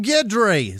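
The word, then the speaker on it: Guidry: gri guedri uh uh it's probably gri it spelled like Guido with dry at the end uh G like Ron gidry oh gidry Sarah that's what it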